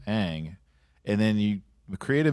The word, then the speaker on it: Aang: I spent 3 years watching this series on animated TV and hearing his name said as Aang, and then you create a movie and you change his name.